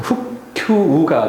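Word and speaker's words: 復旧: 그런데 여기에서는 큐우라고 읽는다. 큐우. 그래서 훅큐우가 되겠습니다.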